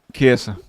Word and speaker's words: Chiesa: Chiesa. I pronounced it right this time for you, Clive, did I?